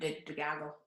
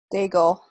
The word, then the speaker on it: Daigle: Lauren DeGago. How do you say your name? I don't even know. But Daigle, Lauren Daigle.